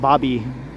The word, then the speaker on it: Baby Point: It's spelled like baby, but apparently it's pronounced like Bobby, or so I've been told. So I'm just doing as the locals do here.